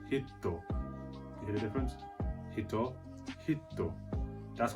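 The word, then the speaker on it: ヒット: means person in japanese by adding a smooth character between the he and the toe it will then become pronounced so do you hear it different and hitto means hit as in hit in japanese so can you hear the difference there's hito which is person and there's hitto you hear the difference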